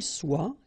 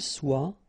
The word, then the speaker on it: soit: que vous soyez, qu'il soit, qu'elle soit. Okay, so as usual, good news is that soit, and then soit here. You write them differently, but then you pronounce them the same way.